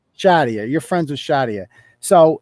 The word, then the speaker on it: Shadia: So you're friends with is it Shadia? Is that how you pronounce it? Shadia. Shadia.